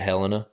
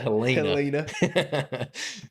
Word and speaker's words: Helena: town called Helena everyone else in the country pronounces it Helena yeah but not in Alabama baby we pronounce it Helena so yeah I grew up hunting around there